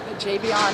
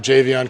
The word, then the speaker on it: Javion: You got Javion, if I'm saying it right, Cohen. Yep, Javion.